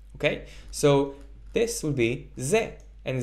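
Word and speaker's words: זה: hey for that purpose that's why we don't pronounce it it's not Z ha and it's not Z right this he at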